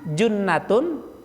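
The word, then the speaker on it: جنة: Iya, jadi jannatun ya itu surga, junnatun perisai, jinnah jin, jin itu semuanya goib itu.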